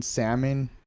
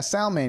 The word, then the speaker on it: salmon: for myself is that the L in salmon is silent. Oh, yeah. I don't think anyone pointed that out to me until I was like in college. Because I was talking to someone and I'm like, yeah, salmon. And they're like, what did you just say? I'm like, salmon. And they're like, you know, the L is silent.